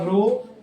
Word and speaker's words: rho: ये जो हमारा ये जो सिंबल है, इसे हम प्रोनाउंस करते हैं रो से, RHO रो, और इसका नाम है, हम पूरा नहीं लिखेंगे, स्पेसिफिक रेजिस्टेंस, या फिर हम लोग इसको बुलाते हैं रेजिस्टिविटी।